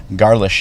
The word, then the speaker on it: Garlisch: But yeah, Garlisch is how they pronounce it. 121 Garlisch in Elk Grove Village.